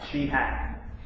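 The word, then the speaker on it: Cihak: Her last name is spelled C-I-H-A-K, but it's pronounced she, like S-H-E-H-A-K. Sheehack.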